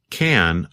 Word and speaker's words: can: teacher in a school she says the word can a bit faster and the vowel sound changes from a like an apple to the schah uh this change of vowel sound is something that happens when we talk faster that's a funny word